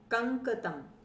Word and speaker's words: कंकतम: कंकतम, ये ध्यान से देखिए इसको कैसे उच्चारण हम करें। क उसके बाद अंग, ड के सामने जब बिंदी लगती है तो उसको अंग बोलते हैं नाक में, और उसके नीचे फिर पूरा क है।